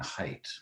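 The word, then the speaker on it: Haidt: Mind by Jonathan height I sometimes I slip into calling him hate but it's actually Jonathan height is how it's pronounced and this is a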